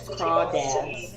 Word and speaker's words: crawdads: I realized once I mispronounced it the first time years ago that it's crawdads.